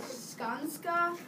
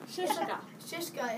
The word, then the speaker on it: Scieszka: This book is Knucklehead, and it's named Knucklehead because this kid named John, I've never known how to pronounce it, Skanska? Shishka. It's a Polish name, and he comes from